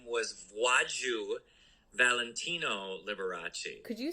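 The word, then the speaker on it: Wladziu: l and the l so it's polish um so the w is a v sound the l has a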